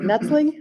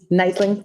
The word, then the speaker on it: Neitling: Yes, I've got a motion for the board for approval for travel for, is it Nutzling? Is that how you say it? Neitling, thank you.